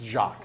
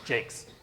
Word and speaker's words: Jacques: It's Jacques, but where I come from, I pronounce it Jakes.